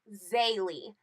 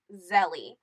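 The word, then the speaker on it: Zélie: the main character's name her name is actually Bailey not Zelly I'm sorry for the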